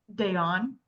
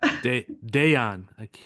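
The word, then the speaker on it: Dejan: Then I would say probably last night, Dijon. I just butchered that. Dayon. Dijon. Thank Soft you. J's, soft J's.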